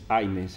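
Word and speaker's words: Hynes: Aynes, aparece en algunos documentos. H-Y-N-E-S, o Aynes con la A, pero viste cómo se pronunciaba, a veces lo escribían.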